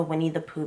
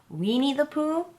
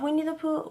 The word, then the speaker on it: Winnie the Pooh: saying that i have a bad habit of pronouncing winnie the pooh wrong so i always slow down when i say that title because i always say since childhood we need the poo why i don't know